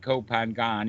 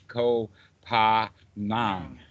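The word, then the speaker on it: Koh Phangan: the westerners pronounce it they see it written down and they always divide it between the n and the g to where actually it's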